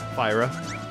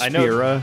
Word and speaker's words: Fira: How do you pronounce the second one of those? What? Fire spells. Fyra. Okay. I know it's Fira, technically.